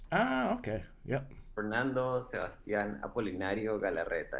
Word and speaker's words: Apolinario: Where's the accent on the last? In Spanish would be Apolinario. Apolinario. Okay. Uh-huh. All right. But I'm used to Sebastian Apolinario.